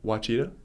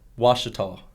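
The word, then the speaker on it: Ouachita: What did you just call it? Wachita? Uo? O-U? Washita. Wachita. Oh, my God. I've only been saying it wrong this whole time. No. They have a parentheses on how to say it when you get there to the school. But, yeah, it's Washita.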